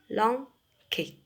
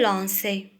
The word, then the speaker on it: lançais: Alors, lisez le verbe je lanquais. Alors, aussi, pour éviter de prononcer le son K, on va ajouter quelque chose. Alors, qu'est-ce qu'on va ajouter? On va ajouter CCD. Alors, je lançais.